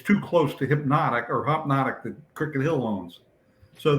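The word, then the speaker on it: Hpnotiq: sued us and because they make a thing called hypnotique they pronounce it hopnotic but it's HP n t oq or something and it's in a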